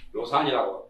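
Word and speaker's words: 樂山: 거의 발음을 낙산이라고 안 하고 보통은 요산이라고 읽습니다.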